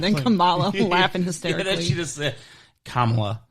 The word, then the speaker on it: Kamala: kamala you're laughing history kamala you got to pronounce it right it's kamala yeah so we've got that